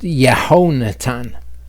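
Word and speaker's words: יהונתן: Hebrews read from right to left, of course, so that's Yud Hey Vav, and then you have the verb Natan, and that is pronounced Yehonatan.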